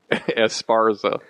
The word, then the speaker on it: Esparza: Esparza.